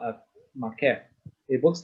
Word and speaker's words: maqqef: Okay, this is what you call a makef. Okay, makef. Don't worry about this one yet, right? It's spelled as MAQQEF.